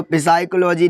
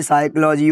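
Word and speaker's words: psychology: ये देखो पिसाइकोलॉजी नहीं होता है। यह साइकोलॉजी होता है।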